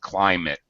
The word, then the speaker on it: climate: pronunciation a little off the I is a long I fly like climb a tree climate climate that's it okay um